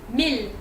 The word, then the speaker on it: mille: The other way of pronouncing it is il, il. So E and L, il. For these words, I think you're gonna have to learn them and know that they are pronounced like that. But there are more like this one than this one. So you have city, which is ville, ville, and mille, which is 1,000. Mille, ville, il.